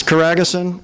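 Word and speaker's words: Coraghessan: Uh, Caraguson. It's Caragason, but uh, my English editors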